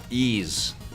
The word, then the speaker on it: Ys: I think Vic and Tommy discussed how to pronounce the name Ease.